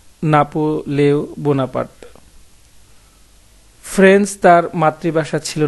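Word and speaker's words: Napoléon Bonaparte: তার নামের ফরাসি উচ্চারণ কিন্তু নাপোলেও বোনাপার্ট।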